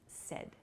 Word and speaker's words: said: so please use said it sounds like s e d the pronunciation uh but